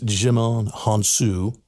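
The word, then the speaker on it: Djimon Hounsou: know him to see him i want to pronounce his name right it's jimon hansu and he'll know him when you see him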